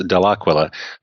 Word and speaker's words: Dell'Aquila: So first of all, about my name, Dell'Aquila. All the Italians in the audience will know I'm mispronouncing it. In Italy, it's pronounced Dell'Aquila, but it actually means from the eagle.